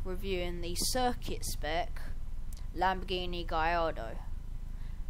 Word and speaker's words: Gallardo: the circuit spec Lamborghini gardo yes it's got L's in it but that is not how you say it cuz I looked it up on Google translate don't diss me please